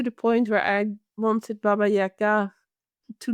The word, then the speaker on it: Baba Yaga: teachings from Baba Yaga, as you correctly pronounce it in Russian. We say Baba Yaga, but actually Baba Yaga in Russian.